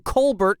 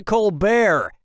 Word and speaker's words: Colbert: Steven colar of the colar report changed the pronunciation of his name from Colbert to kbear and that's how he became rich and famous